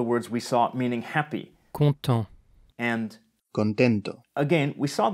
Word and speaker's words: content: Content. The final T is silent, like most final consonants in French, the exceptions being the consonants in the word careful, C, R, F, and L.